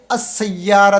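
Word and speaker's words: السيارة: से मिलेगा यहां पे अस सैयारा तो अस सैयारा तो गाड़ी को कहते हैं अलिफ सीन के साथ बरा रास मिल रहा है अस सैयारा तो और लाम साइलेंट है अ तालिब ता जो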